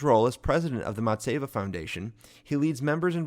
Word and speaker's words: Matzevah: leadership in his role as president of the matseva foundation he leads members and volunteers to educate